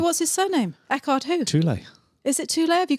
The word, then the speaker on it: Tolle: Tolle. Is it Tolle? Have you got that right? It's Tolle. So how you pronounce that? It's German, don't forget.